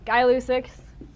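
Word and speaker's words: Gay-Lussac: what am i missing guy lucix it's pronounced guy by the way ideal i'm gonna do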